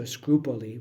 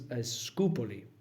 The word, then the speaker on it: Scupoli: His name is Scupoli. So it sounds a lot like Scrupoli, but there's no R in his name.